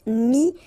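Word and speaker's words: mis: Mi, same advice here, don't pronounce the final S like we had here. T is not pronounced, S is not pronounced.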